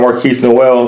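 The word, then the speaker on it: Markquis Nowell: Their point guard Marquise Noel, that's how you pronounce his name, number 2 in assists per game.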